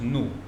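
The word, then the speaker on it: 怒: This Chinese character here is pronounced new.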